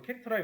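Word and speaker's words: CHAR: 이거 캐릭터라고 읽는다고 했어요.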